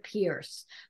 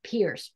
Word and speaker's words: Pierce: Because if you've ever had a chance to see Rhonda Pierce from Schmetz Needles do a seminar, she does them at expos and different things, take her class.